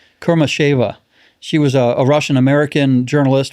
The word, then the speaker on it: Kurmasheva: Alsu, I always pronounce her name wrong. It's Kurmasheva.